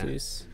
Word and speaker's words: Asus: I'm curious as to who is, I mean, Chris is using an Asus as well, and an Asus, is that how you say it's it? It's Asus, yeah. Asus.